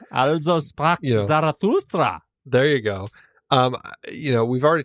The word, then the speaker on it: Also sprach Zarathustra: Also Sprach Zarathustra.